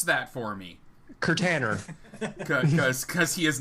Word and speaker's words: Kirtaner: to me on twitter at k-i-r-t-a-n-e-r or just pronounce that for me curtainer because he is not a container i am